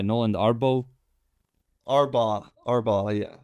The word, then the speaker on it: Arbaugh: arbo arbo arbau yeah arbau yeah okay where where's that from yeah that's a great question um I've heard German I think it's German yeah and it's pronounced like that in German I no I don't